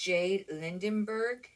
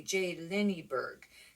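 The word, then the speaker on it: J.Lindeberg: It's J. Lindenberg, or it's actually J. Linneberg. There's not an N in there.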